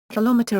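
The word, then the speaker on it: kilometre: Colometer is commonly pronounced /kamit slash with reduced vowels on both syllables of meter.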